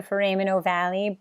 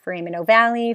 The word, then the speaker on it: foramen ovale: frame and oval but i like actually the pronunciation for him and ovali because it'll help you to remember that there is an e on the end of it so if you learn